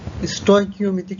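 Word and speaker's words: stoichiometric: স্টয়কিওমেট্রিক সমীকরণ, এই শব্দটা তোমাদের কাছে নতুন, তো চলো এই স্টয়কিওমেট্রিক সমীকরণটা কি একটু ধারণা নেই আমরা। স্টয়কিওমেট্রিক শব্দটি স্টয়কিওমেট্রি হিসাবে এসেছে, এর উচ্চারণটা স্টয়কিওমেট্রিক।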